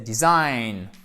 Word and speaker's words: design: un ecours ici mais notre accent tronic se trouve ici c'est une diphtongues ce n'est pas celle ci mais bien celle ci en phonétique qui est l'équivalent du aie aie aie aie ça fait mal ok donc c'est bien 6 am exactly donc c'est dj tôt mais c'est design parfait ensuite on finit excès